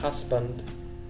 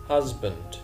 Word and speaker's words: husband: grandson grandson husband husband مش husband الاسم انطقها ز زد husband man mother mother مش بقول mother mother.